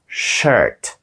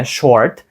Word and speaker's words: shirt: англійською буде Shirt Shirt трішки складна вимова тому що там іде ш майже нечутна голосна літера I і потім R T Shirt це не Shirt це не Short це Shirt досить складна вимова я